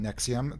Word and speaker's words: NXIVM: about a multi-level marketing company called nexium that's spelled nxivm because and they've been